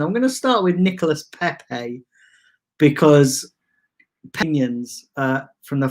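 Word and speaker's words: Nicolas Pépé: saw the worst of nicolas pepe or nicola pepe as people like to pronounce and and the reason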